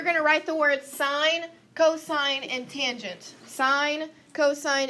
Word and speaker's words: sine: familiar on your calculator sine will look like sin we are highly educated individuals are we not so we are not going to say sin we are going to say sine okay still one syllable